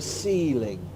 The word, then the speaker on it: ceiling: you will see the ceiling so it's a it's an an s ceiling so Ana please could